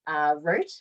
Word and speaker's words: Roth: And then I also, in the same year, did Roth, which is in Germany. People call it Roth, but it's Rot it's pronounced differently in German.